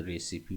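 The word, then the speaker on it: recipe: इसमें आपका आर ई सी आई पी ई है। इसमें ई साइलेंट नहीं है आपका तो रे सीपी पढ़ेंगे।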